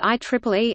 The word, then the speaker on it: IEEE: Today, the organization's scope of interest has expanded into so many related fields that it is simply referred to by the letters IEEE, pronounced IEEE, except on legal business documents.